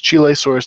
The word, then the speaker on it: Chilesaurus: and it's a really weird dinosaur it's called chilesaurus U we just look look at the name to make sure I'm pronouncing the um species name right so it's chilesaurus Diego Suarez ey uh and this is a